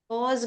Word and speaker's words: aux: Aux magazine. Oh, au magasin. Look here, we have X, but it's not pronounced. It's pronounced like the masculine.